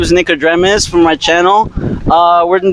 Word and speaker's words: Nicodremus: Nico. So Nico. Yeah. DRE like Dr. Dre. Okay. Dre. MUS. Okay. Nicodremus.